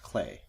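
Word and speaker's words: Klei: I'm gonna correct you it's actually pronounced clay clay what did I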